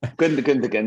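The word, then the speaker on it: Gündoğan: How do you pronounce it? Gundogan? Gundogan, yeah, that'll do.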